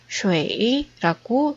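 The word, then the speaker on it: 水: 중국어로는 쉐이라고 읽습니다.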